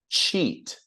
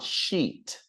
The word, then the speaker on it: cheat: Now, listen to the pronunciation. Cheat, not sheet.